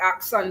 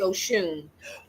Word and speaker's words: Oxsun: So, it is the the pronunciation. It looks like Oxen, but it's actually Oshune.